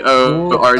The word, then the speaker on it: Gorg: It's just Gorg. Like George, but with okay.